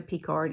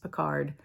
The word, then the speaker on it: Picard: was married to a p card if you watch star trek it's pronounced picard but we say p card and my mom's second